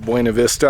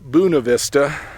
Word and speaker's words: Buena Vista: mountains sorting in the area of buena vista i know that locals pronounce that buna vista not sure exactly why i'm guessing because